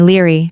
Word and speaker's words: Liry: Everyone who knows me calls me Liry. Two syllables, easy.